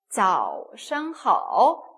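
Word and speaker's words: 早上好: 중국어도 있는데, 早上好, 早上 하면은 아침이라는 표현이에요. 그죠? z 발음 나서 早 그리고 시 발음과 ang가 합쳤습니다.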